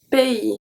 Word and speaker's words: pays: When AY is pronounced EI, such as un pays, pays, un pays, pays. So we don't pronounce the S at the end.